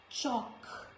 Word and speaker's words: chalk: Before K also letter L is silent, like stock, chalk, talk, not talk, folk, no.